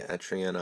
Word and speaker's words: Etrian: Hello and welcome to my second video in the Let's Play Etrian Odyssey 4 series.